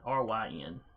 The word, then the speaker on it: Ryn: A decent chunk of the population is human, though you also see a fair number of how should we pronounce it? Ryn or Ryan? Ryn.